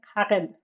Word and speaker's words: Haren: Yeah, Haren. It's like a G sound.